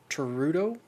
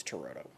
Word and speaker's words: Turturro: Danny Aiello, Giancarlo Esposito, Spike Lee, Bill Nunn, John Turturro, I think is how you say it.